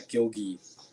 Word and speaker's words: Gilgi: Maybe there's a word spelled exactly the same way that's real, that's pronounced Gilgi, but it's based off my last name. But yeah, Gilgi. Yeah, just like Gil and then Gi.